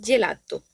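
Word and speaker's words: gelato: Seguimos con la g, la cual se pronuncia como una y, es decir, como digamos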